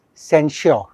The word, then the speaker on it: censure: But this word is censure. The pronunciation इसका change हो जाता है, and censor is blame.